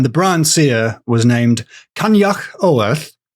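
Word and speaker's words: Coinneach Odhar: And the Brian seer was named Kanyak Oorth. The problem is I'm I'm just saying an impression of exactly what the woman on the learn g website says. Yeah.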